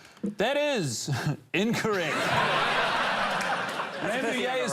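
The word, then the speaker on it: Rambouillet: Ramuay is spelled R A M B O U I L L E T.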